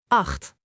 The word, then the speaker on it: acht: One strong syllable from the throat. Acht .